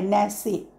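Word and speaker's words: nasci: उच्चार पण वेगवेगळा आहे अचूक उत्तर आहे एन ए एस सी आय जो पहिला पर्याय आहे तो बरोबर आहे या लॅटिन शब्दापासून तयार झालेला आहे न्यासी असं म्हणता येईल क्रमांक दोन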